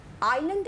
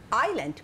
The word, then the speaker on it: island: আইল্যান্ড একটা নতুন শব্দ, মানেটা তোমরা জেনে নাও। এ আই এস এল এ এন ডি, এস এর উচ্চারণ নেই। আইল্যান্ড কথাটির মানে হচ্ছে চতুর্দিকে সমুদ্র বা জলবেষ্টিত ভূমি, সেটিকে বলা হয় আইল্যান্ড।